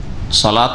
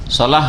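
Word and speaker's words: صلاة: তো হাইয়া আলা صلاح সালাহ হইতে হবে যদি কেউ صلاح শুধু বলে যেমন অনেকে সালা সালা সালা মানে লাম শুধু হইলো তো সালাহ মানে কিন্তু আগুন হয়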